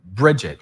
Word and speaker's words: Bridget: And then it sounds like Bridget is how you say it.